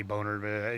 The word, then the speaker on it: Boehner: the house Bona Boehner I think I say boner yeah I don't know how you pronounce a Boehner I guess is what supposed to be and they were talking